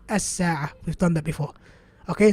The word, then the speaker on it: الساعة: the lam and we go straight to the sin. As-sa'a.